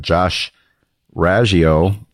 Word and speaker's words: Raggio: So, that guy is Josh Raggio, pronounced several ways, as I just found out.